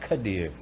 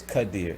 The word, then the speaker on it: Quadir: be a girl yeah it's it's it's actually pronounced kadir it's not quite ears it's cut deer it's spelled you know in the black community